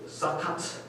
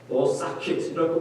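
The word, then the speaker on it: סוכות: 가지로 씌워서 초막절을 기억하는 그 수콧이라는 영어 발음은 또 다릅니다. 그 사카트, 사킷이라고 발음하는 이 수콧이라는 초막절을 지금도 지키고 있는데요.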